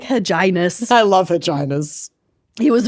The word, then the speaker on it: Hyginus: and I don't think this is how you pronounce their name, but this is how I'm going to say it. Hyginus. Pope Hugenus the Fourth. Huginus. Huginus Aquinas. Vaginus. Dentitis. Rewindus. Rewindus. It's Hyginus. Hyginus.